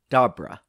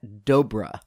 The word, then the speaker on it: Dobra: I pronounced his name as Dobra. But I found out after I had released the episode that it's pronounced Dobra. As he put it, rhymes with cobra.